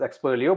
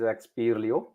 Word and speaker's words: Expero: for all right expero people might read it as experio but it's actually pronounced as expero which is an acronym